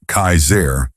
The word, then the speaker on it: Kasar: One man in particular who called himself Kasar, pronounced Kaizair, was especially dangerous.